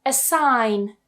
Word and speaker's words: assign: Our first rule is when we have the letters G and N together at the end or towards the end of a word, we tend to remove that G completely, so don't try and pronounce it.